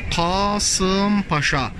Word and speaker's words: Kasım Paşa: bu paşamız tabii biz Kasımpaşa diyoruz Fakat doğru okunusu okunuşu Arapça kelimenin Kasım Paşa kasim ayıran demek kısımlara